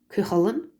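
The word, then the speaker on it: Cú Chulainn: I'm just trying to get the pronunciation for you. So Ridgera Chinny is Cuchulainn.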